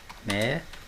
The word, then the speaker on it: médico: Médico. Vejam lá, ó, que a sílaba tônica não é a última, nem a penúltima, é a antepenúltima.